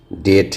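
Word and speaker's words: debt: अगर टी के पहले बी रहे तो उसे भी साइलेंट कर दिया जाता है। जैसा कि आप देख रहे हैं इसमें जैसा कि आप देख रहे हैं इसमें। जैसे आप देख रहे हैं डेट है, डाउट है, डेटर है। यहां डेटर नहीं होगा। यहां बी क्या है? साइलेंट है दोस्तों।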